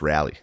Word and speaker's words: Raleigh: It's pronounced rally.